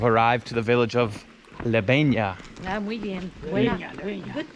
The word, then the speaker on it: Lebeña: So we've arrived to the village of Lebeña. Ah, muy bien. Buena. Good pronunciation.